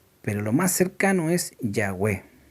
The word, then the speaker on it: Yahweh: eso que se Incluso se ha olvidado Cómo se pronuncia el nombre de Dios como debe ser lo más cercano para nombrar el nombre de Dios es Yahweh es el nombre de Dios Esa es la forma más cercana a lo como se